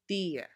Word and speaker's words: día: However, the words on the right do have that accent mark. They are pronounced with a strong stress on that I sound. Parecía, caía, veía, día.